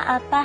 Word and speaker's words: 아빠: 아빠. Appa. 아빠. Rhymes with oppa.